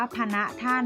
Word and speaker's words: ฯพณฯ: หลัง เลย นะ คะ อ่าน ว่า พะ นะ ท่าน หมาย ถึง ท่าน นะ